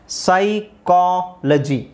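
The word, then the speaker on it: psychology: ವೈ ಇಲ್ಲಿ ಸಿ ಎಚ್ ಓ ಸೈಕೋ ಸೈಕೋ again ಸೈಕಾಲಜಿ ಸೈಕಾಲಜಿ ಸೈಕೋ ಸೈಕಾಲಜಿ ಸೈಕಾಲಜಿ ಅಂದ್ರೆ ಆ ಮನಶಾಸ್ತ್ರ ಸೈಕಾಲಜಿ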